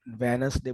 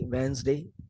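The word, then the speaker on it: Wednesday: ये जो वेडनेसडे कुछ लोग बोलते हैं, कुछ लोग डी निकाल देते हैं, उनको मालूम है डी साइलेंट है तो लोग वेनसडे बोलते हैं, लेकिन वेनसडे भी रॉन्ग है, वो न के साथ जेड साउंड मिक्स हो जाएगी, वेंसडे इंग्लिश में वो करेक्ट है।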